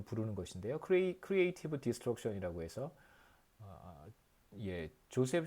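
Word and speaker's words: Joseph: 크리에이티브 디스트럭션이라고 해서 조셉 슌페터라고 뭐 조지프라고 읽기도 하고요.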